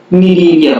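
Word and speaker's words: Cnidaria: इसकी स्पेलिंग और प्रोनाउंसिएशन जो होता है बड़ा ही डिफरेंट होता है। इसको हम नीलीरिया पढ़ते हैं।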